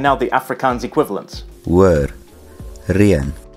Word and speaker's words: reën: hoor, reën, Notice that the second vowel requires a diacritic so that we know to pronounce these as two separate vowels and not as one diphthong.